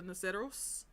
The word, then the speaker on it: Naceros: So I say this as the Naceros, like, order.